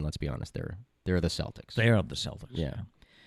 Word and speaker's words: Celtics: It should be Celtic. Yeah. They are the Boston Celtics, not the Boston Celtics, because you mentioned the Celtic women, the women that come around to do concerts. They are the Celtic women, not the Celtic women.